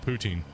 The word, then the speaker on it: poutine: Putin yeah they don't some people say it's pronounced that way but no it's not if you're actually from Canada all Canadians call it poutine okay people try to say it's Putin and stuff like that but it's not Canadians pronounce it poutine I was yeah people